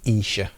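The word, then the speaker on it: Esher: But then there's the Isha demos, and it is Isha, not Esha. If anybody's wondering, the good people from that town will tell you it is Isha, it's pronounced.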